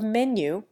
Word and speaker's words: menu: The first syllable of menu rhymes with B.